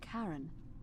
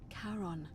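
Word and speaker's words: Charon: It's just as you described it, only your pronunciation is a little off. The name you heard wasn't Karen. It was C H A R O N. As in Karon, the fairy man. Karon.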